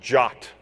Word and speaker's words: JWT: token and it's pronounced it's pronounced jot for some reason the